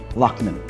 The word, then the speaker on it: Loughnan: For our Women's Month special, Cube Gallery's featured artist for the month, Miss Libbet, Loughnan. Oh, very good pronunciation.